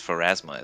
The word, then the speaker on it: Pharasma: Wait, yes, Pharasma is how you say that.